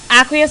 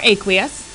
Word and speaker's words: aqueous: think KCl has yep aqueous or aqueous you can pronounce it either way this problem actually